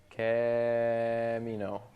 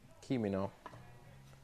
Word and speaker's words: Kimino: Camino. Sorry. Camino. Kimino. K-I-M-I-N-O. Kimino. He's pissed. How dare you mispronounce?